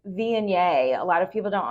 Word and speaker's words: Viognier: So like Viognier, a lot of people don't understand Viognier because it's Viogner, like Vigo. Yeah, it looks like yeah. Vogner, but it's not. It's Viognier. And also like sommelier.